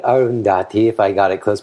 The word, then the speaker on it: Arundhati: Is this Arundhati? Did I pronounce it even close to correct? Oh, that is correct, Arundhati.